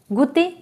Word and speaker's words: goûter: Goûter means to taste. O-U-U, right? Okay, so it was all about this oo sound. I hope you understood that whenever O-U is coming together, it gives a sound oo.